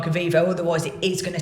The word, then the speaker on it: Eviivo: So we use a company called Avivo. That's spelled Eviivo.